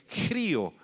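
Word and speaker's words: χρίω: apunta la palabra unción es la palabra griega vacío xr y o con acento en la i grío Qué significa un derramamiento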